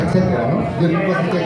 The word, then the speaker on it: etcétera: No se dice etc, se dice etcétera, ¿no?